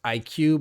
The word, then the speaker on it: iCUE: I learned it's pronounced IQ, but it's ICUE, their software.